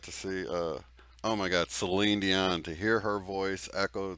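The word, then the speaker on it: Céline Dion: I said it like everybody else says it. I know, but it's Celine Dion. Okay. She's a Quebecers just like me.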